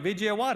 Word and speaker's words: Vijayawada: the world, VJ, you're going to have to pronounce that. You got there you go, Vijayawada.